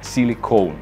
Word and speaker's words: silicone: Обратите внимание, без английской «и» на конце. И произносится как «silicon». В слове же «silicone» это «и» на конце есть. И произносится оно как «silicone». «Silicon» и «silicone». Чувствуете разницу?